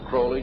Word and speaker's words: Crowley: develop a litter crawley he likes to have his name pronounced Crowley to rhyme with holy and the Satanists today